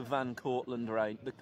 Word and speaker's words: Van Cortlandt: So we just picked the one that was the hardest to say and spell, which was the Van Cortlandt Rangers. With a silent T.